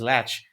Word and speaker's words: latch: So that's Levy's latch. But I mean, Benny is the other drummer, and snatch rhymes with latch.